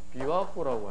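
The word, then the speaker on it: 琵琶湖: 내가 일본에서 비와코라고 하죠. 뭐죠? 비와코. 우리나라 말고 비파호라고 읽는데 일본 말로 읽으면 비와코라고 합니다.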